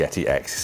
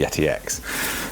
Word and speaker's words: Yeti X: X so now I believe this is actually pronounced the Yeti X is not like Apple where they call it the X but it's actually 10 it's a Roman numeral this is just literally the Yeti X so this has got some collaboration with Logitech